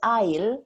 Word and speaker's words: aisle: sorry a-i-s-l-e it's pronounced i'll you don't pronounce the s and i'll means um